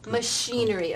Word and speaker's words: machinery: Here, the digraph CH changes its sound. It's not ch anymore. It changes to the SH sound.